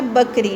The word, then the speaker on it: بکری: سے پہلا لفظ ہے بکری۔ جب بے پہ زبر آ جائے، بکری ایک جانور یا